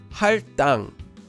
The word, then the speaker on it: 할당: So the base consonant, digat, becomes a double consonant, and the word becomes pronounced as 할당.